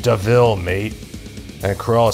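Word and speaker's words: De Vil: the a devil and then jasper says it's pronounced devil mate and corel says deville i like it and i i actually said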